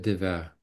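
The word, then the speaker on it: Devers: qui était beaucoup plus encore une fois comment prononcer son nom Gill Gilles de vert ah oui Gilles dev vert d d e V e r s mais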